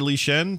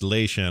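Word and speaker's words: Lei Shen: his name he's uh emperor lee shen pronounced leishan i guess i'm saying it wrong uh also known as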